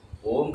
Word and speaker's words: ओम: वो ओम का जो उच्चारण है ना, अ, उ और म, इसी से ही नाद योग बनाया गया है।